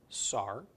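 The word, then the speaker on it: שר: a comet's followed by a race pronounced Saur Saur is a prince so the phrase Prince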